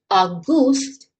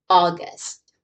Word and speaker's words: August: In the beginning, we have that short lazy sound. There is no u sound in this word. It's not August, but August.